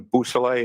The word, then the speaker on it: Bousselet: Could you say that name again and spell it for us, Yes, please? sir. It's Trooper Jason Bousselet.